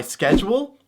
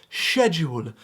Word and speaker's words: schedule: Oh, you mean my schedule? Silly American. You don't pronounce it with the C. Why would the C be there in the first place? You pronounce it like they do in Deutschland. Schedule.